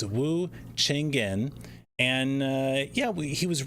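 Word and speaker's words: Wu Cheng'en: don't mispronounce this I was already going to mispronounce it it's Wu chenin and uh yeah he was writing about events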